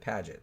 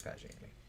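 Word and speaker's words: Paget: a g t and I heard everybody in the documentaries pronounce it padet so I guess that's how I'm going to pronounce it even though it looks like pagey but so this uh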